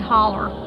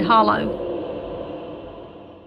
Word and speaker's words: Hollow: My mom was raised in a place in Georgia called Haunted Holler, which the correct pronunciation would be Haunted Hollow.